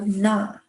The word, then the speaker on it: 나: So na. It's the ah sound but an N in the front.